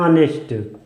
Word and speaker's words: honest: यहाँ पे आप देखिए इंग्लिश का एक कॉन्सोनेंट है, लेकिन जब हम इसका उच्चारण करते हैं, प्रोनाउंसिएशन करते हैं तो होता है ऑनेस्ट।